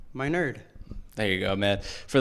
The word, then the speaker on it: Minard: one now how do you say his name my nerd there you go man for the longest time